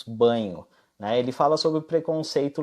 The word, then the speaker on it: Bagno: Mas não é com NH, se escreve com GN, Bagno, né? Na verdade a gente fala Marcos Banho, né?